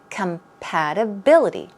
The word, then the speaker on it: compatibility: a synonym and compatibility it's a long word and the stress goes right here compatibility compatibility okay it means harmony